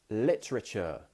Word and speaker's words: literature: Randa would like to know how to pronounce literature.